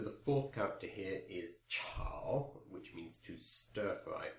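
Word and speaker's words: 炒: So the fourth character here is chao, which means to stir fry. That's C-H-A-O, third tone.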